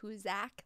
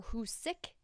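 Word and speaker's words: Hoosac: of its time the who's a tunnel some people also pronounce it who zack like isaac um or who's sick like with the word sick at the end all of these are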